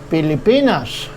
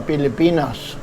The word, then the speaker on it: Pilipinas: in English, we say the Philippines, and it's spelled with PH, one L, and two P's, Philippines. In the Filipino language, it's called Pilipinas. So in Filipino language, we say, nakatira ako sa Pilipinas.